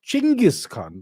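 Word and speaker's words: Chinggis Khan: Khan or is it chenis Khan it is chenis Khan that's how the Mongol say it look it doesn't matter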